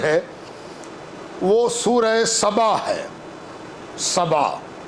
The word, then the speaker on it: سبا: وہ سورہ سبا ہے۔ سبا، سین بے الف، سبا۔ بائبل میں بھی اس کا ذکر موجود ہے، فرق اتنا ہے کہ وہاں تلفظ اس کا شیبا ہے، یہاں سین ہے، وہاں بڑی شین ہے۔ زبانوں کے فرق سے